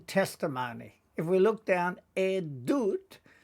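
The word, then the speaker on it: עדות: Remembering that the vav is not pronounced here. Rather, we pronounce the sound that the gesh makes in it. Then we have an aleph mem, tav, and it is edut, meaning testimony.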